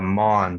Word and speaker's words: Maughan: you pronounce it is that how it's pronounced or it's uh mon so mom jamaican okay oman or well okay